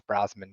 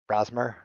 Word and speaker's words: Brosmer: You've got me pretty excited about that Max Brosman guy, or say the last name again, Brosmer. Did I Yeah. say it wrong? Brosmer. No, Yeah. it's fine.